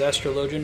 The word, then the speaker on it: astrologian: 14 the MMO which has astrologian as a job and that's how they pronounce it I would have expected astrology with astrology but astrolog um o I get to do